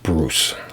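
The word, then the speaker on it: Bruis: how you pronounce that but that was pronounced like bruce and it's uh that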